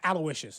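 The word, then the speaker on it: Aloysius: guess no alicious ooous aloicious is how that's pronounced aloicious I uh I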